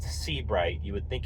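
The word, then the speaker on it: Sebright: would definitely give them a call uh it's pronounced C bright you would think it's s EA but it's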